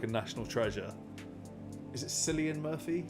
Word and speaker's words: Cillian: Is it Cillian Murphy? How you pronounce Cillian? So I'll bear that in mind. Killian, got it.